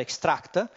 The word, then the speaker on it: XACT: travesto possiamo dire che i xact che pronunciato giusto sarebbe extract è il primo software